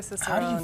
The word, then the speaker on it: Cicerone: This is the Master Cicerone. Did I pronounce that properly? Yes, Master Cicerone.